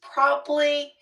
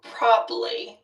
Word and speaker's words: probably: And then you said it's probably my favorite smell. And I know you shortened to two syllables for probably.